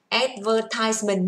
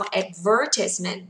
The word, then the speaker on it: advertisement: Còn trọng âm của nó mà rơi vào thứ hai thì âm này sẽ đọc là E. Được chưa mọi người ơi?